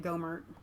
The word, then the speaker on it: Gohmert: Congressman, now that guy pronounced it Gohmert.